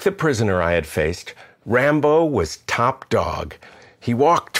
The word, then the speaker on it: Rambo: Back in the 90s, my friend Vitya, who we nicknamed Sylvester, don't ask, had a dog he called Rambo, stress on the first syllable.